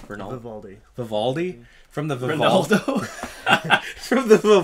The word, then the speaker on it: Vivaldi: Vivaldi.